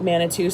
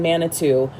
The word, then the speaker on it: Manitou: Okay, so one thing that I did end up doing is I went and I looked up Manitou Springs. I'm assuming it rhymes with caribou.